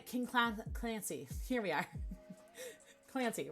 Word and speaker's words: Clancy: Clancy rhymes with fancy.